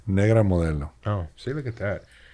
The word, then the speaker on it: Negra Modelo: It was Negro Modelo. So good. How do you say it? Negra Modelo.